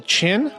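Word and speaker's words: Kinn: We got uh uh Michael Chin. Uh K K I N N, but it's he says it's pronounced like chin.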